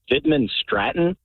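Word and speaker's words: Widmanstätten: And what's really cool is the name of this plate, the name of the pattern is Vidman Stratton, but it starts with a W, but it sounds like a V pronunciation whenever you're pronouncing it.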